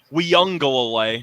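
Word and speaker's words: Uiagalelei: in the audience i did learn the actual pronunciation for clemson's quarterback he was giving me crap for it last year we young go away so that's for you steen i learned that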